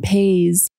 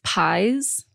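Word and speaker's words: Paiz: I want to hop in real quick and say, I think I might have pronounced Catherine's last name incorrectly. I've seen a lot of mixed takes on this one. Apparently it's Pies.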